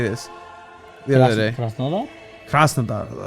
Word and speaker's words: Krasnodar: Krasnodar, like some shit like that.